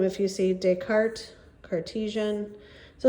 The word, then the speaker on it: Descartes: his name was Rene Descartes you do not pronounce the S at the end there and what we call